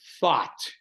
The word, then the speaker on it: Thoth: But the reversal grid of Thoth, like a lot of people pronounce the Babylonian spirit god Thoth, which is spelled Thoth, but it's pronounced thought.